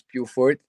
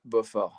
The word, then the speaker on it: Beaufort: all the time and people always say Purefort. So you know like for this time let's go with the American way but if you really want to know and how to pronounce it is Buffer.